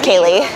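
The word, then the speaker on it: Kaleigh: of thing in the blood my name is Kaye Kaye yes how do you spell it Kaye k a l e i g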